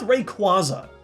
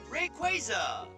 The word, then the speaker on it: Rayquaza: word like this before I know Q UA can often make the qua sound like in quadratic and quash hey that's actually a Pokémon attack let's go with Rayquaza Rayquaza okay so even though